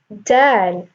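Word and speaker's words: د: Dad is a Tafkheem letter. When you're pronouncing it, you raise your tongue up. Versus Dal. Notice how you're not when you're pronouncing Dad, your tongue is going up and pressuring that sound up.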